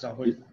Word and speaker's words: Rahul: Pronouncing that right, Rahul? Yes, sir. Yeah. It's Rahul.